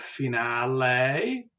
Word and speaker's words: finale: Te, we have finale, and you can hear that E at the end, which is pronounced as A.